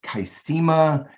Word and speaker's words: Qsymia: I'm not even sure how it's pronounced. Kismia. It's like Qsymia.